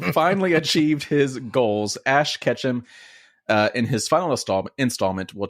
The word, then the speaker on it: Ketchum: His last name is actually Ketchum? Yeah. Like Yeah. Ash You gotta catch 'em all. gotta catch them all? Yeah. But it's spelled with a K.